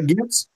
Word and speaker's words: GIF: I'm on team GIF. GIF. Got it. GIF. A hard G, yeah.